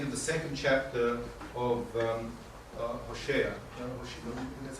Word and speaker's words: Hosea: is the end of the second chapter of Hosea. That's how you say it? Hosea.